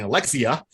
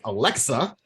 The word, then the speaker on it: Alexa: tried to use it i was saying alexia it's alexa clearly i got this yeah i got the dollar store version alexa oh